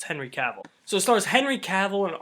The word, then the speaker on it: Henry Cavill: that's how you say his name yes it's Henry Cavill so stars Henry Cavill and Armie Hammer Henry